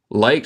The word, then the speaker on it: liked: Liked se pronuncia como no hay ed, en vez de eso hay un t.